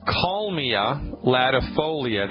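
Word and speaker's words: Kalmia latifolia: say it first I'll say it then I'll spell it okay right it's called call Mia latifolia that's kaal like Larry I a yep em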